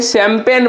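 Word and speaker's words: champagne: शैंपेन पढ़ते हैं। इसको क्या पढ़ते हैं भैया? शैंपेन। याद रखिएगा। शैंपेन हो गया। तो शैंपेन हो गया। तो यहां पर देखिए एस एच का उच्चारण हो जाता है।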